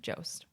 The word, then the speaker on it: Jost: How do you say his last name? Jost. What's that?